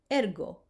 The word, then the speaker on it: ergo: The hard G as in go, the rule is that